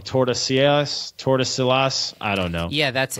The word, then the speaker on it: Tordesillas: Yeah, but it was the Treaty of, I always say this wrong, Tordesillas.